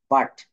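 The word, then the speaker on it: but: যাচ্ছে আ কিভাবে হবে বি ইউটি বাট এটা তো আমরা বলতে পারতাম বি ইউ টি ইউ তো এখানে উচ্চারিত হচ্ছে না এখানে কিন্তু বাট হবে এন ইউ টি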